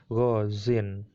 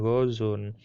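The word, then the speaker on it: غازٍ: Karena dibuang, dia menandakan kalau ada pembuangan ya, makalah di kasroh lah dia, gozin, bacanya gozin bukan gozun.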